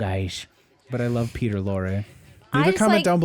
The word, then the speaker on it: Lorre: Lorre, Lorre. His name was Peter Lorre.